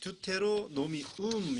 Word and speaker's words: Deuteronomium: 그거에서는 듀테로노미움 이렇게 되어 있습니다. 듀테로노미움. 就是这个音 듀테로노미움. Deuteronomium。 네. 그리고 히브리어 성경에는 엘레 하데바림.